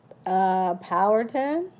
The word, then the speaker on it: Powhatan: to spread the languages you just spoke about power ten pow like powwow hat like I had on your head and I'm jealous I can't spell in my head Nanticoke yes Nanticoke people pronounce the Powhatan and looks similar to Manhattan and that's the